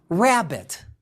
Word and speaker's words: rabbit: words like robot or rabbit notice that even though rabbit is spelled with two b's the b sound is only pronounced once the number for rabbit is four nine one it's not 4 9 9 1.